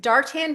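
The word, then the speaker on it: Darque Tan: And I first met her when she was working at is it Dartan? Am I saying it right? That's correct. Otherwise pronounced as Dark Quayan.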